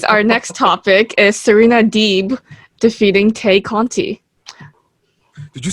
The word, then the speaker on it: Deeb: man well we gotta we gotta apologize to serena deeb for mispronouncing her name but uh yeah she's